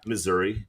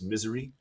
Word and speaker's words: Missouri: they want it pronounced it's not Missouri it's misery that's the way they want it pronounced so you're really trying